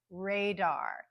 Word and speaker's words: radar: stress but then we hear the very clear Dar radar so that second syllable has a secondary stress so let's compare it